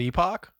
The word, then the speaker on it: Epoch: We consider both acceptable, because generally that word can be said both ways. We like Epic because the word can be said that way, and it's a better double entendre, Right.